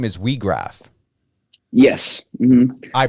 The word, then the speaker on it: Weag: can blow the whistle your last name is WRA yes I pronunciated that right correct yep that was that